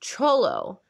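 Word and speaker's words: Xolo: you got to oh x-o-l-o pronounced cholo like dante from you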